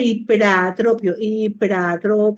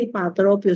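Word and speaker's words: ipratropio: Y el bromuro de hiperatropio, no se dice hipatropio, se dice hiperatropio.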